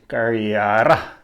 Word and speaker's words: Kariera: Australia where he introduces the Carrera tribe or era which is the Aboriginal pronunciation the Carrera tribe and